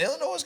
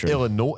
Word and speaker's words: Illinois: Illinois played this year Illinois is it Illinois noise Illinois Illinois okay yeah that's what I say silentness I guess I guess that's what I say anyway Illinois we got confirmation this is silent is so uh give